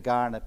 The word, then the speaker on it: Kaurna: continuing importance to the Kaurna people living today. Actually, I'm very intrigued that it's with a K but pronounced G.